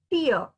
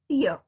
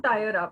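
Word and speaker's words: tier: must be pronounced as tear it must be pronounced as tear but how do you say that uh for example if you got a uh it's a two tire a two tire uh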